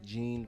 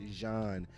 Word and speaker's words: Jéan: Jéan, not John, October 6th. How do you pronounce my name? It's Jean, not John the MC, not Gene the MC. It's Jean, like ZH, like J.